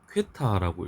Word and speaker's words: 퀘타: 10의 30승 Q 기호로는 Q를 쓰고요. 퀘타라고 읽습니다.